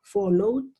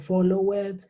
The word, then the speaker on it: followed: como en una vocal, yo los voy a pronunciar con una D. Entonces yo digo followed, enjoyed, played, tried y continued, ¿sí? Con esa D final. Yo no puedo decir follow it, ni enjoy it, ni play it, ¿no? Yo lo pronuncio con una sola D.